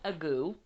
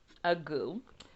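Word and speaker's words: ague: It's A-G-U-E, and it's pronounced agoo, agoo.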